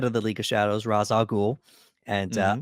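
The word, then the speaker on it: Ra's al Ghul: Raz al Ghul and I'm going to use that pronunciation because that's the pronunciation that Nolan went with um if you're a fan of the Batman the Animated Series they went with a different pronunciation Rey shalgoo and yeah let's get you know we're getting sweaty again yeah raise Ray Charles in a lot of the video games and animated it's always been race but for whatever reason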